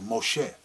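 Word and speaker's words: משה: moses he said well moshe which is the original uh pronunciation of his name in original language anglicized moses he said i hold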